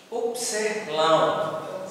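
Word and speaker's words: ύψιλον: huruf t seperti pada kata tabah Lalu ada upsilon nah upsilon huruf besarnya itu seperti y ya kita seperti huruf y Tapi itu bukan huruf y Itu adalah upsilon huruf besar ya upseh laun jadi silon itu translitasinya huruf u atau huruf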